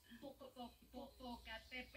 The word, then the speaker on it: Popocatépetl: varios conductores, noticieros de otros países no pueden pronunciar bien la palabra Popocatépetl. Yo la estuve practicando, amiga, Popocatépetl.